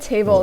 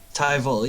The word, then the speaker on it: Tyval: When you get Table in. Tyval, yes. Tyval. Oh my god, I'm so sorry. I've been pronouncing his name wrong in my head all this time. I heard table and I was confused.